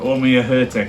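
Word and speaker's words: Ó Muircheartaigh: Yeah, we've had a few people saying they can't pronounce it. Omir Hertek is what we've been told.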